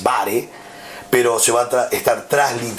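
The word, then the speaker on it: βάρη: versículo dos es baré la palabra baré o como se pronuncia bien en el griego que es bare pero se va estar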